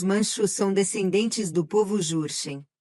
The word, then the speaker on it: Jurchen: A coisa interessante sobre isso é que os manchos são descendentes do povo Jurchen, que eu acredito que se pronúncia Shurchen, mas é grafado com J, o que é interessante se conectarmos isso ao Shur M.